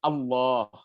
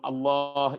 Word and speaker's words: Allah: Kalau ada kata Allah, sebelum kata Allah ada huruf yang berharakat fathah, maka lam pada Allah harus dibaca tebal.